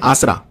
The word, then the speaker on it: आसरा: नाम है वाईएसआर असरा ये योजना इसको प्रोनाउंस करते हैं आसरा ठीक है वाईएसआर आसरा